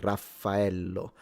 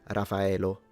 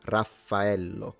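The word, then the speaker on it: Raffaello: I mean, of course, but uh yeah, and we spell it so dear Zam the wolf in Italian, it's spelled with two F and two L.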